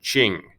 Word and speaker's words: Qing: how you pronounce that qing it's pronounced almost like it's a ch well who are the